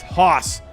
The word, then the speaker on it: Haas: i'm saying hey see so it's hoss eric haas why so why can't they just spell it like that you know i come